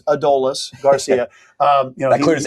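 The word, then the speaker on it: Adolis García: He said it's Adolis Garcia. Um, you know, That clears everything up, too, because there was a lot of Adomises, yeah, Adolises, everything. It is Adolis. Adolis Garcia.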